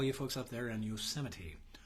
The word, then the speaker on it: Yosemite: Happy days to all you folks up there in Yosemite, or as some people pronounce it, Yosemite.